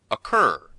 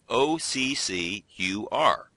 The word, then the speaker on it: occur: North Americans put that characteristic sound at the end. We say occur. While the Brits would say occur.